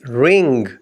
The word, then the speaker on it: wring: کے اسپیلنگ ہیں WRING۔ اس میں بھی W سائلنٹ ہے، W کو چھوڑ کر باقی 4 لیٹرز کی ساؤنڈ کو ملا کر پڑھیں گے رنگ، رنگ۔ رنگ کا معنی